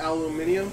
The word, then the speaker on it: aluminium: Aluminium?